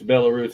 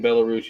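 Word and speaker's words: Belarus: it's bellus I just it's spelled like if you say it like it's spelled it's spelled bis oh but it's bellarus it's made in bellarus Ukraine that's place used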